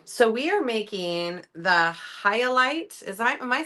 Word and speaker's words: Hyalite: Highlight mini wallet, you guys.